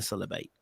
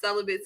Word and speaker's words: celibate: your reason for being celebrate and i'm glad you said it like that because they they done mispronounced celibate so many times on that freaking episode